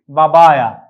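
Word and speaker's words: بابايا: ওই ইংরেজি পাপায়াটিকেও আরবিতে বলা হয় একই নাম, যেহেতু ইংরেজির যে পি সাউন্ড, এই পি সাউন্ডটি যেহেতু আরবিতে নেই, বরং এই পি সাউন্ডটিকে আরবিতে বা দিয়ে উচ্চারণ করা হয়, বা দিয়ে পিটাকে উচ্চারণ করা হয়। সেজন্য আমরা পাপায়ার জায়গায় লিখেছি বাবায়া, কারণ আরবিতে পির যে সাউন্ডটি এটি নেই।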